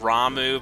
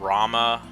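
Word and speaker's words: Ramuh: me in words sometimes it's a Rama or Ramu apparently it's pronounced Ramu but ever since I was a kid I always said Rama but I can see how it would be Ramu though but yep next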